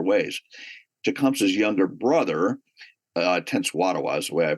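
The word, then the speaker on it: Tenskwatawa: Jacumps's younger brother uh Tense Watawa is the way I pronounce his name what it what it became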